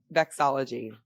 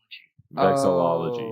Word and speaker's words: Vexillology: Vexology.